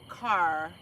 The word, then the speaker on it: Kerr: The dude pronounced it Kerr like the drugstore. His name. I mean. House of reps. I'm not sure what we're talking about. The the guy that the John H. Kerr Dam or Oh. said he pronounced it car.